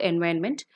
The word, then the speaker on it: environment: I would like to insist on the pronunciation of the word environment. It is environment. Okay, IRON. Iron is there, so it should be pronounced only as environment.